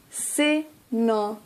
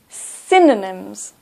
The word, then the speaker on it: synonyms: Synonyms. Stress at the beginning. Synonyms.